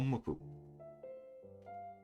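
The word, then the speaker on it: 木: Ki. Ki, tree or wood. The kunyomi can be ki or ko, and the onyomi can read boku or moku, written with 4 strokes.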